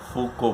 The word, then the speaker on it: Foucault: फूको FOUCOULT, बट लेकिन उसको French में फूको बोलते हैं, तो हम वैसे ही प्रोनाउंस करेंगे जैसे उनका नाम है, वैसे ही उच्चारण करेंगे, फूको।